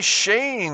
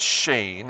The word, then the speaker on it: Schoen: Gerry Schoen. We're going to pronounce it Shane. I believe that's correct, but I'm just guessing.